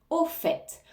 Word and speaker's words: au fait: au fait au fait ici on prononce bien le T au fait on peut traduire par